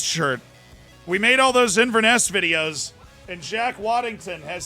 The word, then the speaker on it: Inverness: If you ever find yourself in the Highlands, capital, pronouncing Inverness like mess, got it.